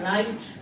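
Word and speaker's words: write: Example हम लिख देते हैं, आपने वर्ड लिखा राइट, तो आप देखेंगे यहाँ पर भी आपने W को प्रोनाउंस नहीं किया है।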